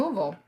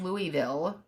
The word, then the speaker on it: Louisville: We're going to actually be um, training some people from the Juvenile Justice Center in Louisville. And you have to say it like that.